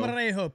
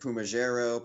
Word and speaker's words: Pumarejo: Pumarejo, P-U-M. You guys actually said it right. I've heard so many things for Pumarejo. I've heard Pumajero, Palmageri.